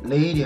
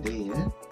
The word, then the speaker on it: 내일: 레일이 아니라 내일, 로인이 아니라 노인, 뇌성이 아니라 되게 힘들죠.